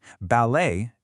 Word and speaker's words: ballet: And for that beautiful style of dance, you do not pronounce the t. Ballet is simply pronounced ballet.